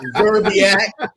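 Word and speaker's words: Szczerbiak: Man, pronounce his last name since that's your man. Zerbiak.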